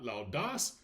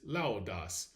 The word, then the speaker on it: laudas: It is not loudas. Rather it is laudas.